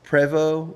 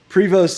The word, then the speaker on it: Prevost: incorrect way yeah like it's actually like it's like French it's preo I think is how it's supposed to be said but like Prost is how we say